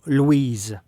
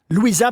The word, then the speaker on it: Louisa: Est-ce que je prononce bien votre nom, Louise? Louisa. Louisa, pardon. C'est le nom Louisa.